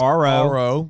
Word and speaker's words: Aro: super well uh Pastor Jay it's AO it's Aro we the pronunciation is uh is is not always the